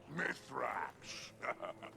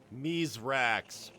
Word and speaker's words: Mithrax: Spider is better than Fallen, and no worse than your old man letting the Guardians call him Mithrax. Yes, some of them struggle to pronounce his name. Mizrax.